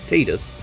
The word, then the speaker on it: Tidus: uh i must admit titus is quite fun and i will only ever call him titus because his official pronunciation is tidus and i don't like